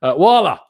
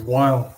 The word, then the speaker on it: Weil: caller on, which is I'm going to butcher the pronunciation, but he's going to correct me. Wala, how you doing? Hey, Tom. It's Weil.